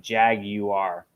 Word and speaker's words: jaguar: you're not supposed to say wire it's like jag you are but i i can't say it right i